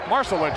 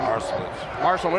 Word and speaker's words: Marcelic: I think Marcelic is actually the preferred pronunciation. Marcelic.